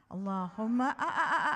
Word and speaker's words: Allahumma: Allahumma, not like a mums and grandmas.